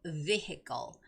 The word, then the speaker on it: vehicle: And when you're reading the word vehicle, the stress goes on the first syllable. So it's got to be vehicle, vehicle.